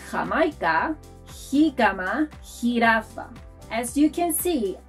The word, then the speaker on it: jirafa: You'll also find it in words like Jamaica, jicama, jirafa. As you can see, our J is like the H in English. So, to pronounce la letra J, think of history or hungry.